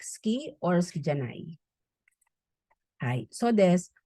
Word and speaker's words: 好き: Now, ski is pronounced as silent U. Ski, like.